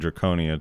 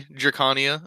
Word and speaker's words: Drakania: I accidentally keep saying Draconia too sometimes, because Draconian, but I believe it's Drakania.